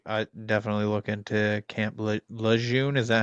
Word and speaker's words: Lejeune: I definitely look into Camp Lejeune. Is that how you say it? How do you spell it? Lejeune. Lejeune.